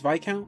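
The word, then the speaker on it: viscount: pronounce oh my god you got that word right you actually got it right yeah it's vi count you're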